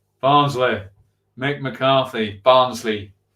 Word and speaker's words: Barnsley: Say it right. It's Barnsley. Barnsley.